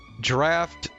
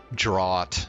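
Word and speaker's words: draught: captain's VA that cuz draft as in d a u ght is a very uncommon word so I mean you almost never hear it like pronounced by anybody and in fact I until recently would have thought it was draw instead of draft but uh then I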